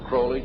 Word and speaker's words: Crowley: in your life Croley to rhyme with Bowlings and the statements today